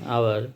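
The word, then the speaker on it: hour: আর এইচের উচ্চারণ যদি ভাওয়ালের মতো হয়, যেমন আওয়ারের বানানটা কিন্তু এইচ দিয়ে, কিন্তু উচ্চারণটা কিন্তু হাওয়ার নয়, আওয়ার, সুতরাং এক্ষেত্রে হবে হচ্ছে এন।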